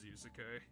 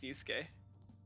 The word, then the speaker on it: Yusuke: y oh it is yusek no it's it's just two syllables yusuke uh what are we